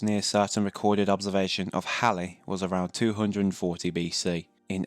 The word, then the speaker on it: Halley: Just a quick side note here, the pronunciation of Halley has always been a minor debate, but the correct saying is Halley. But Halley, and to a lesser extent Hawley, have also been used.